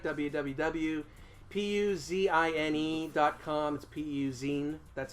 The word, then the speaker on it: PUzine: to the website www puz I any comms PU zine that's how you pronounce it I like us on Facebook and